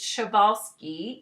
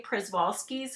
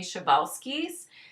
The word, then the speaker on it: Przewalski's: so take a look at this name is chevalsky even though it's spelled p r z e some people call them p horses some of them do say przwalski's horse the correct pronunciation is actually chevalski's but they are a rare breed of horse